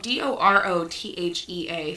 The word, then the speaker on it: Dorothea: a bad bit there dora oh so it is spelled d-o-r-o-t-h-e-a for our listeners dorothy yeah dorothea wow and